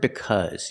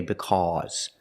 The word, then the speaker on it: because: We don't say because, we say because. You see the short uh, like cup and up.